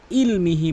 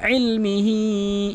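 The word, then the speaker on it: عِلْمِهِ: ولا يحيطون بشيء من ইলমিহি, এখানে অধিকাংশ লোক ইলমিহি বলে হামজার উচ্চারণ করে ফেলে, আইন উচ্চারণ করতে হবে। ইলমিহি ইল্লা বিমা শাআ ওয়াসিআ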